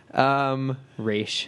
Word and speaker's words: Ra's: brought in Ra's. Yeah. You said it wrong. Raish.